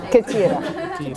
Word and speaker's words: كثيرة: Not كتير. كثيرة.